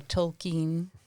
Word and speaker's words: Tolkien: uh a course on the works of j.r.r tolkien whereas he would say tolkien that's the proper pronunciation of it so he's english too so